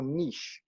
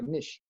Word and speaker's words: niche: So it's finding your niche, as we say, or the Americans say your niche.